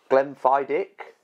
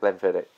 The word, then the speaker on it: Glenfiddich: Okay, there's a few ways to pronounce Glenfiddich. It's that way. Then there is Glenfiddich. Glenfiddich. Putting emphasis on the CH. And then there's Glenfid. De. The CH is silent.